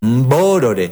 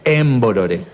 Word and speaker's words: borore: tenemos acá una comunidad que es borore no es emborore pero al hispanohablante le cuesta esa pronunciación inicial de las palabras MB Entonces le agrega una e Como por ejemplo hacen